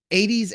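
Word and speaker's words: Aedes: all right so uh 80s africanas is a type of mosquito and it's it's not 80s as in the number eight and a zero and s s but that is exactly how it's pronounced so I said to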